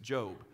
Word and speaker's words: Job: And some people pronounce it Job. It's not Job, it's Job.